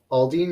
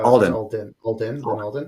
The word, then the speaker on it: Alden: of these personalities yeah lin lin uh aldean is pronounced uh alden yeah well yeah i've